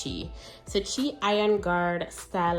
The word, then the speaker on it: CHI: Because in Jamaica, we'd probably say chai, but I think it's chi.